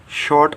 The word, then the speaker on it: शॉर्टा: Next जो contraction है वह शॉर्टा, शॉर्ट ऑफ को हम शॉर्टा कह सकते हैं। प्रोनाउंसिएशन शॉर्टा, हिंदी मीनिंग की तरह।